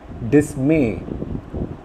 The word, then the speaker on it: dismay: Dismay, again mer is stressed.